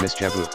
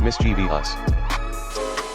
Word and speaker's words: mischievous: Colonel Angus French word mischievous is Mis chaboo not mischb us a man incorrectly tried